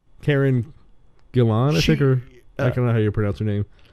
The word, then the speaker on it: Gillan: Karen Gillan, I think, or I don't know how you pronounce her name. It's Gillan.